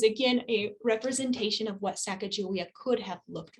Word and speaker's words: Sacagawea: um i have said sacajawea and why i say sacagawea is that here at the center uh her people say they again they say sacagawea and they spell it with a j so as part of